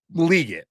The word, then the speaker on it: Legette: They're like, it's Legette.